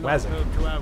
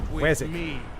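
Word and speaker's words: Wazzock: But like it's spelled Wazok, W-A-Z-Z-O-C-K, but it's you pronounce it Wazok. Wazok.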